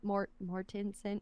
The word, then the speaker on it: Mortensen: Mortensen, how do you say his last name?